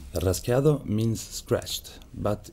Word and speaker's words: rasgueado: Rasgueado means scratched, but in Andalusia, the D is not pronounced. So it's rasqueado or rasqueo or rasgueo with G, whatever.